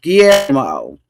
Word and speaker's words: Guillermo: You know how to pronounce his name. Guillermo.